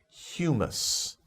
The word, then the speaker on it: humus: that's a food okay so be careful with these words pronunciation and don't get it mixed up with the food from the middle east okay humus okay good next word